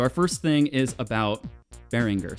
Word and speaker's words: Behringer: first thing is about Behringer say what you will about this pretty divisive company um Beringer that's apparently the actual pronunciation as I just learned today um they've been pretty